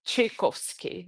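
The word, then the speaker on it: Tchaikovsky: I don't know if I can pronounce it right, but some people in Brazil speak like the T, you know, chaos. Yeah. Yeah. It's more like ch sound. Chikovski. It's like chai.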